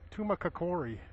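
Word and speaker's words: Tumacácori: not but so I was corrected on the pronunciation it's tumakori National Park that's it we're off to uh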